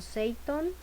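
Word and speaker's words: 整頓: En la segunda S se puede o se pronuncia más o menos como algo como Seiton y hace referencia en el español a ordenar.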